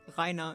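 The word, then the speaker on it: Reiner: But then to be fair to them, colloquial Rainer is pronounced like it has an A at the end. Really don't pronounce the R.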